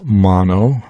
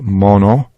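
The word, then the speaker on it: μονογενής: And we would not pronounce this part of the phrase as mono, but mono. It has a short O sound like got or God.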